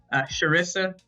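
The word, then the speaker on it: Charissa: just my my nickname my real name is sharissa sharissa and it's spelled with a CH and people really struggled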